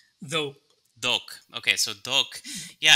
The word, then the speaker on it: dhawq: Yeah, it's a wonderful explanation here, and I'm really happy that you brought up the pronunciation dhawq? Dhawq.